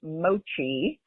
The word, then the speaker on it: mochi: First off, Doug, side note, it's pronounced mochi and it's um made from glutenous uh rice